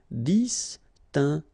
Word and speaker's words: distinguer: Alright, so that's the reason why we've got here G, okay, because combination of E and R at the end will give you the sound E, okay, G. So that's the reason why we pronounce it distinguer and not distinguer, okay? So U is quite important here, just to give you the sound G, G, G.